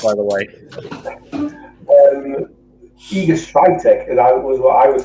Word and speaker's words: Świątek: The one I've heard is like Spiontek, but again, that's somebody else's. Yeah, I can spell it. I can spell it, no problem. I've just got the name in front of me. I can pronounce some Polish, and I believe that's Świątek.